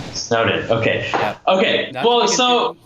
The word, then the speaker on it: SNOWDN: That's how you pronounce it, yeah? Yeah, SNOWDN. SNOWDN.